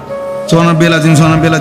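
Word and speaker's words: سبحان: সুবহ সুবহানা রব্বিয়াল আজিম সুবহা এখানে বার মধ্যে কলকলা হইতে হবে সুবহানা সুবহানা আজিম এক কোটি বছর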